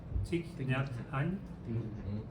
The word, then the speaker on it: Thich Nhat Hanh: But I don't know how to pronounce his name. Thich Nhat Hanh.